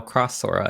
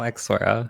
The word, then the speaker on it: X Sora: I also just realized it's how Cross Sora and not how X Sora. So I've been Oh my saying it wrong. That is, I think that is the American So- prerogative, whether you pronounce it X or whether you pronounce it X X or cross.